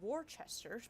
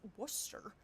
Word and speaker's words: Worcester: But why is Warchester pronounced Worcester?